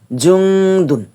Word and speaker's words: জুনুন: June বাহ্যিক ভাবে June কিন্তু এখানে দুন্নত টাকে আমরা সামান্য অনুস্বরের মত পাতলা আওয়াজে উচ্চারণ করব জুনুন জুনুন জুনুন এটা কেন হবে এটাকে